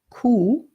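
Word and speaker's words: Kuh: of the high of garden war the cow coup in German which is spelled K u H courts to us mmm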